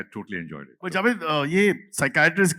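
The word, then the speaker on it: psychiatrist: जावेद यह साइकेट्रिस्ट की बात अगर किया इसमें तो व्हाई इज द P silent in साइकेट्रिस्ट?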